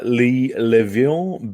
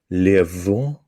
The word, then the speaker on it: Le'Veon: Nah, Le'Veon Bell.